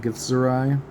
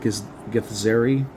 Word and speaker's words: Githzerai: I'm pretty sure that's how you're supposed to pronounce that. Githzerai. Instead of like Githzeri.